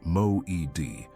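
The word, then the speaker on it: מועד: The name is Moed, pronounced Moed.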